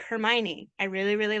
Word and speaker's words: Hermione: last 20 years okay first of all it's pronounced Hermione so I would say people are people can